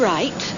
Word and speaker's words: right: İngilizce'de T'den önce gelen G, H harfleri okunmaz. Şu kelimeleri tekrarlayarak bu kuralı öğrenin.